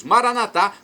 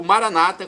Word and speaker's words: Maranatá: E agora eu clamo do aramaico dialeto de Jesus, Maranatá, como dizemos nós católicos, ou Maranata, como dizem nossos irmãos separados, os evangélicos ou protestantes. Não importa a pronúncia, o significado é o mesmo.